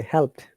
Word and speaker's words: helped: This D sounds like T here in help, remember. English language Help. is sometimes seem to be difficult language. Though there is D, but when you pronounce it in natural way, the D becomes T in this case.